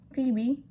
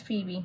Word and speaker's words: Phoebe: to have the shade Phoebe. Oh, it's Phoebe, my bad. I'm pronouncing the O. The O is silent, I guess.